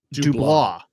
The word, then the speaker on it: Dubois: Dubois.